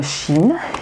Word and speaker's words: chi: ce jusqu'en Asie, Japon, Chine, il est prononcé chi, aussi avec C-H-I.